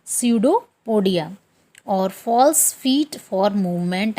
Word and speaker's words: pseudopodia: उसको बोलते हैं स्यूडोपोडिया। इसमें पी साइलेंट रहता है, स्यूडोपोडिया।